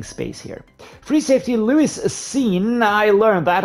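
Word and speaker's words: Lewis Cine: Free safety, Lewis Seen. I learned that. I always said sign, but it's actually pronounced seen by, obviously.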